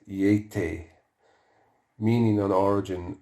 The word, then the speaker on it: Yeti: unknown primate of Central Asia said to be pronounced Eata meaning an origin not established the one derivation